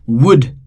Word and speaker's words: would: Would, again L is silent.